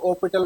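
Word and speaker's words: L'Hôpital: next है बेटा आपका कुछ लोग इसको एच साइलेंट करके एल ओपिटल रूल भी बोलते हैं इसको बेटा मतलब अलग-अलग प्रोनाउंसिएशन होता है हॉस्पिटल ना बोल के इसको ओपिटल बोलते हैं इसको एलपिटल रूल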